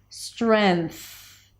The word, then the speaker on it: strength: a little easier where instead of bringing the tongue up in the back for the ng, you just bring it up for an N. Strength. Strength. Now here, because the N appears just before a th sound, then you can place the N on the teeth, preparing for the th sound. Strength. And then you're just releasing the tongue for the th strength.